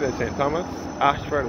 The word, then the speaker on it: Ayshford: We've been to the Ashford in St. Thomas. Ashford is spelled A-Y-S-H-F-O-R-D, and this is the Royal Harrison's Cave of Welchman Gully.